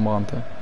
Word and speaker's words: Brandt: foule ian brown julian bram plutôt à la prononciation c'est pas un espagnol mais bon c'est un allemand brandt et la match plutôt